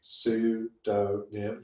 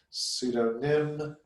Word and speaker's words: pseudonym: So I think pseudonym, Sue, S-U-E, D-O-H, nym, N-I-M. So pseudonym, first word it gives me on the list, if I hover over it, pseudonym.